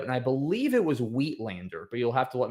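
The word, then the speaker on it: uitlander: Um just with the UI given that it's an Afrikaans word I believe. Uh but witlander definitely better than how I pronounce it, you at lander.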